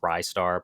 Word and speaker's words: Ristar: uh, cuz you know, everybody says it ry star, wristar. Um, the runner, his name was Mackey. He said that even Sega employees don't know how it's pronounced. Um because the katakana is actually different. Uh so it's it could be either way, but I think a lot of people thought rising star. It's ry star, but I always thought